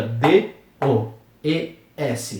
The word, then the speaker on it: does: não é muito previsível nós pronunciamos essa palavra does does como se fosse D um a com tio e o s does does Como eu disse